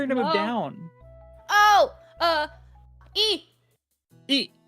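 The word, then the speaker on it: え: E is pronounced E as in easy or eat or eel.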